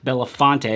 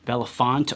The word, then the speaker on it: Belafonte: flagship to make sure it was in fact Belafonte because honestly I wasn't sure if it was Bella font or Belafonte and in the past